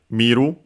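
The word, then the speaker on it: 見る: uh as uh well in the case of an accented verb like miru. Luckily, the accent is like in the dictionary form. The uh final form in the present affirmative is on the first syllable on the mi miro mo.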